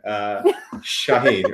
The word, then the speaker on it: Shaheen: So yeah, my name, so just for the record, my name is pronounced Nawu. No, I'm just kidding. Shaheen or Shah.